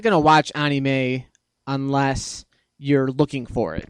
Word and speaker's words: anime: You're not going to watch anime unless you're looking for it. I thought it was anime. Why do you say anime? Anime is the Japanese pronunciation.